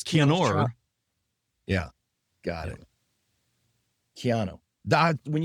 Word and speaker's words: Keanu: it looks like Reeves, Keanu, but it's Keanor.